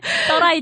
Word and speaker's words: 떠라이: 그 인도랑 접경하고 있는 그 낮은 지역을 발음을 조금 조심해야 되는데 떠라이라고 얘기를 해요. 네. 떠라이 지역에서.